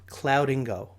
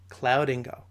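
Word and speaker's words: Cloudingo: I personally love this tool and it's called clouding go some of you might have not heard of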